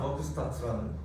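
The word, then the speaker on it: Werkstätte: 비엔나 버크스타트라는 이제 뭐 저런 뜻인데 이제 독일어권에서는 W가 V 발음이 나기 때문에 이제 저 로고가 있어요.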